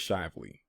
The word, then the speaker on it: Shively: reputation as lively shively okay so it is shively based on how they wrote that as the name of the town is pronounced with a long eye this is a